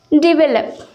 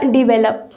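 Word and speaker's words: develop: अब जनरली हम लोग इसे बोलते हैं डेवलप या डिवेलप। ओके, लेकिन इसे सही प्रोनाउंस करना है, इसका सही प्रोनाउंसिएशन है डी वे लो। क्या है? डिवेलप। ओके, इसमें 3 सिलेबल हैं, आप देख सकते हैं।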